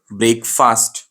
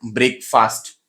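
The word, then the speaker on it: breakfast: ब्रेकफास्ट। कैसा pronounce करते हैं इसको? ब्रेकफास्ट।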